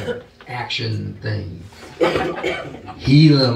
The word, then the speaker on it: Gila: like an action thing Gila monster but we're not going to pronounce the G I don't know what